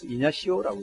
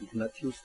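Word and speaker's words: Ignatius: 제스위트에 처음 만든 사람이 이그나시우스 로열라라는 사람인데, 이게 가톨릭에서는 이냐시오라고 얘기를 해요. 이그나티우스. 영어로 발음하면 이그나티우스고, 가톨릭에서는 이냐시오로 하는데, 이냐시오 영성수련법이라는 게 뭔가 하면은, 로열라가 하는 얘기가, 로열라가 앉아가지고, 하여튼 묵상을 하면서 예수님을 만나는 법이 있어요.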